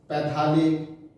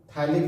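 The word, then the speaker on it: phthalic: यहाँ आइसो पढ़ेंगे और फिर यहां से पढ़ेंगे आइसोथैलिक एसिड, पैथालिक, आइसोपैथालिक, या पीएच का उच्चारण नहीं होता है तो हम लोग बोलते हैं क्या, थैलिक एसिड, आइसोथैलिक एसिड, और इसका नाम है टेरेथैलिक एसिड, टेरेथैलिक एसिड।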